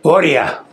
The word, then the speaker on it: Boria: Boria.